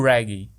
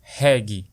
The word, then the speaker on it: reggae: Tudo isso graças ao ritmo que, nos anos 1970, conquistou o coração dos maranhenses, o reggae, ou como dizemos na pronúncia abrasileirada, reggae.